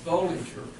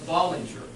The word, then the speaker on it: Bollinger: Cynda, when you came the first time, I pronounced her name Bollinger, but I have been corrected. It's Bollinger, and I will pay the fine.